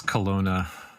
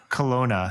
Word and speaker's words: Kelowna: Up in Kelowna, am I pronouncing that right, Matthew? It's Kelowna. Kelowna, yeah.